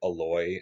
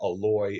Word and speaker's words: Aloy: I Her name is spelled like Alloy, but I've heard it's not pronounced that way. I think it's like Aloy.